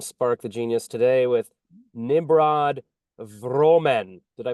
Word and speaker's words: Nimrod Vromen: I'm Spark the Genius today with Nimrod Vromen. Did I pronounce that right?